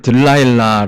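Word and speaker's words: Delilah: 건 들린 나라는 여자예요 이 틀릴 나가 영어로는 딜라일라 라고 우리가 발음을 하죠 뭐 에릭 클랩튼 인가요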